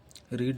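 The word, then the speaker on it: read: हैज पढ़ने के लिए रीड रेड रेड लेकिन स्पेलिंग एक जैसी होती है लेकिन प्रोनाउंसिएशन अलग-अलग होता है बस रीड रेड रेड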